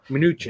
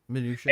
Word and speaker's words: Mnuchin: And how do you pronounce his name? Mnuchin. Oh yeah, Mnuchin.